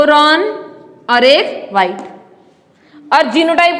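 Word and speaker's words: roan: हैं इसको ठीक है रंग नहीं रन तो ये जो इंटरमीडिएट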